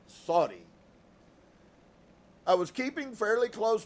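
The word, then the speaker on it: Suddi: 3 meet sui and it's actually pronounced more like Saudi I was keeping fairly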